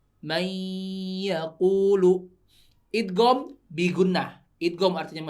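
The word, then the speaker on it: مَن يَقُولُ: Nah, ini walaupun tulisannya man yaqulu bacanya may, enggak man yaqulu tapi may yaqulu ya. Soalnya di sininya ada tasydidnya.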